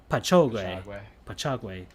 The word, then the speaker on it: Patchogue: Worked for Sports Channel America, WALKAM, and I can't even pronounce this, Patchogue, New York, WFAN. Huh? Wait, spell it for me. Patch, like a patch, and then Ogue, OGUE, Patchogue, Paninis, I'm not sure, pierogies.